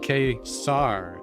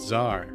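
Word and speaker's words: Ka-Zar: It's saying K-Sar, not Zar. I'm gonna let the AI know that it says Sar. The comic says I'm supposed to pronounce it as K-Sar.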